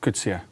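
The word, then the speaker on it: Coetzee: Kutsia. That is definitely not how I pronounced it yesterday.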